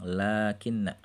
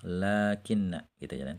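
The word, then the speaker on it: لكنّ: Jadi dibaca panjang, 'lakinna', meskipun ditulis pendek, tapi dibaca panjang, ' lakinna'.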